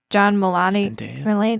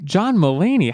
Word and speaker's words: Mulaney: we just kind of saw andy sandberg and john milani how do you say his name help me out here john mulaney how dare you do that to john mulaney